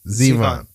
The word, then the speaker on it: Zivon: Zeon is it am I pronouncing your first name correctly how do you say it perfectly Zeon okay got it all right is it Russian